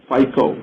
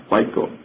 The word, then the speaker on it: FICO: and controlling which is typically pronounced as FICO fic FICO you got SDS for